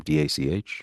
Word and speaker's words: Dach: How do you pronounce his name? Dach? Oh, Colton Dock. It's the brother of Kirby Dock in Montreal.